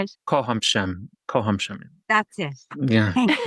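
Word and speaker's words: kocham: Kohhamm Kohhamm.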